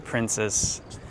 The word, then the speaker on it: Princes: So this is the Princess Pier in Melbourne, and at the port of Melbourne. And princes, I'm trying to figure out how to say it instead of princess, princes.